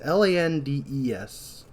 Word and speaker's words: Landes: Burke is played by Michael Landis, or Lands. It's Landes. Typically, when I've seen the name Landis, it's Landis. So I don't know if it's Landis, Landis spelled a different way.